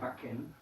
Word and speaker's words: backen: palabra, un ejemplo sería backen. Backen es hornear. Eso se escribe así, ¿ok? Con CK. Y también es así que esa A es corto, decimos backen, no decimos backen.